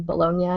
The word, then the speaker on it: Bologna: is and then Bolognia, even though it's spelled like Bologna. B O L O G N A.